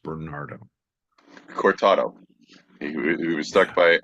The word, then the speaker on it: Bernardo: is uh in my I heard you say Coronado I was like I believe it's pronounced Bernardo corado he was stuck